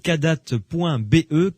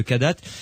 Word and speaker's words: Kadath: Allez sur leur site kadat.be, Kadat ça s'écrit KADATH.be.